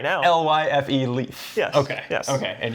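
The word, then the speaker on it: Lyfe: L-Y-F-E, leaf.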